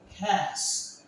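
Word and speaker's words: catch: দেখুন এই টির উচ্চারণটা আমরা করবো না এবং ক্যাচ অথবা আপনি লিখতে পারেন উচ্চারণ করতে পারেন ক্যাচ স্যানাস এই টির উচ্চারণটা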